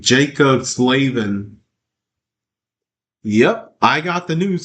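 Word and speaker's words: Slavin: Jacob Slavven. Yeah, that's how he pronounces his name. Jacob Slavven.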